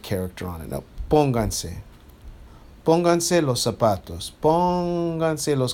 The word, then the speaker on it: pónganse: As soon as I add an extra syllable, I now have to mark where the original stress is, and that's where you hear it, pónganse.